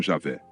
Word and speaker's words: Javé: O nome do Deus do Velho Testamento era conhecido pelas quatro letras: Y, H, W, H, hoje pronunciado como Javé ou Jeová.